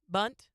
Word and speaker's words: Bundt: Bunt?